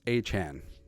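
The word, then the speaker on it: Achane: So he changed the pronunciation of his name. Now it's Achan.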